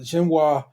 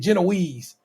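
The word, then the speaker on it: génoise: So everybody in that motherfucker calling that shit Genoese. And I'm just like, I know that's not right. Because it's not right. It's Genoise. It's a fucking French word.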